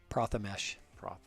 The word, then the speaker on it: Prathamesh: get his name right prathamesh it's pronounced just like it's spelled the mesh I'll still